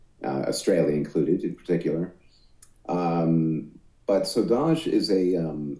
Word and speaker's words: Saudade: Let's move forward to your 2014 latest, which is Sude. Did I say it right this time? So, it is Saudade. Saudade.